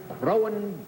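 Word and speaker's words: Croghan: For nearly, going on 14 years, Bennett's been struggling with that Crowan, and this is the first time he's had it right, I might add. It's spelled C-R-O-G-H-A-N, and it's a little bit difficult to get used to.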